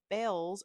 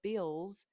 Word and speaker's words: Bealls: I was on my way to Target when I decided to check out Bells or Bills instead. It's spelled Bealls.